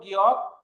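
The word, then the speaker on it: 기역: যে এই গিয়কটাকে আমরা এইভাবে লিখবো গিয়ক। এখন দেখেন এটার উচ্চারণ হলো গিয়ক। এই অক্ষরটার নাম হলো গিয়ক। গিয়কটা বাংলায় আমি এভাবে লিখলাম গিয়ক। আর এইটার উচ্চারণ কি হবে? ক, খ, গ।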